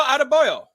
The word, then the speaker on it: Adebayo: That's how I would say. Yeah. Now, I would wish I could see a chicka over the E and pronounce those a little differently, but now, I'd go Adebayo.